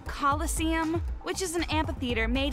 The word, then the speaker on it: Colosseum: it right there's no such thing as a Killa seeum what it's pronounced Colosseum which is an amphitheater made an ancient Rome